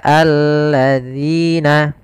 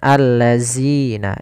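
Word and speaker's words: الذين: Zal di sini agar dia terbaca dengan baik, itu dengan ujung lidah kita menempelkan dengan gigi sari atas. Zi. Maka alladzina. Hati-hati jangan terbaca dengan allazina. Ini kesalahan yang sering terjadi, diganti dengan huruf zai.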